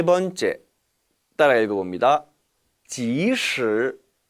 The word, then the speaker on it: 即使: 即使 이 단어는 발음에 주의하셔야 해요. 왜냐하면 바로 이 단어와 혼동이 될 수 있기 때문입니다. 따라 읽어보시죠. 即使 반면에 이 단어는 其实 이 其实는 도금을 하면은 기실이지요.